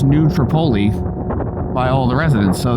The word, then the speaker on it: New Tripoli: Africa is pronounced that way um is actually pronounced New Tripoli by all the residents so they they know